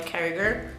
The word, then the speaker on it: Carriger: buy it, and that is Soulless by Gail Carriger.